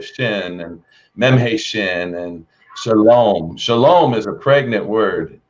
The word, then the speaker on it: shalom: Shalom.